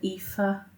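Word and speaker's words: Aoife: it's like it spell it said epha but it's spell like a i o f EP I know it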